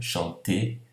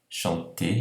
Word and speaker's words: chanter: no final no verbo, chanter, chanter, então aqui não tem diferença nenhuma de pronúncia, o R aqui do infinitivo do verbo cantar, chanter, não é pronunciado, tá?